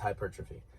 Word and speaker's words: hypertrophy: So hypertrophy, it looks like hypertrophy, okay? But it's pronounced hypertrophy.